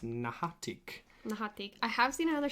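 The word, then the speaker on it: N'ha-a-itk: So, but the like we said before, the Ogopogo, that's not the name. It's actually pronounced Nahatik.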